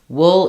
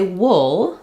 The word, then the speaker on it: wool: in food School Etc wool is an exception it's better to visualize it with UL L like in pull and then you'll be more likely to have that accurate uh vowel so if I can